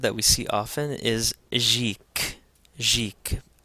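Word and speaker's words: ϫⲱⲕ: Another word that we see often is Jik, Jik. Again, because the Ita follows the Ganga is going to take a soft G sound or a J sound.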